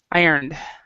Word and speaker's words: ironed: So a lot of times with these words, when you're actually saying them, you don't even say the E sound. Tired, ironed. So there's no E sound there.